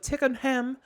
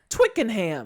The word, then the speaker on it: Twickenham: And so it's titled as Performing in the Pubs of Tickenham in Royal Albert Hall and Back to the Pubs of Tickenham. Or Twickenham. Did you say Tickleham? Twickenham.